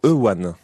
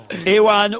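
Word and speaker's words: Euan: Ewan ou Ewan, vous dites Ewan vous? Bah, il n'y a pas de W, il n'y a même pas de R, il n'y a rien. Ça s'écrit E-U-A-N. Voilà, donc. Pas facile à prononcer ça.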